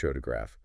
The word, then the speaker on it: photograph: You start with PH photograph. Stress is on the first syllable.